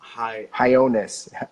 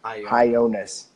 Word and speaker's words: Hionis: So this is how you pronounce Katie's name. Hionis. Hionis. Katie Hionis. Yeah. Cool. Katie. Like Jonas.